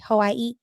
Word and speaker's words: Hawaii: She like, I say Hawaii. So Oh, right. That is how you're supposed to say it. Yeah. she said, I guess because, she's indigenous, so she knows the correct way to say it.